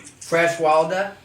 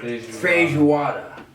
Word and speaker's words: feijoada: Fresh Walda? How do you say it? Fresh water? Feijoada. Face Chihuahua. It's not what he said at all. He didn't say chihuahua. Feijoada. Feijoada. Yes, that's better. Feijoada.